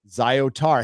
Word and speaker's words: Zyatar: d d podcast called the zyatar chronicles pronounced zyotar hey i did it